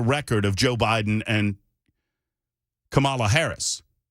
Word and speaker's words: Kamala: to defend the record of Joe Biden and Kamala Harris K CA kamla Harris pardon me I